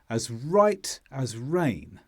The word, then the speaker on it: as right as rain: We would say the phrase like this: I feel as right as rain. So the stress is on right and rain.